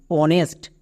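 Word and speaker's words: honest: যেমন অনেস্ট। এখানেও কিন্তু এইচ এর উচ্চারণ হবে না।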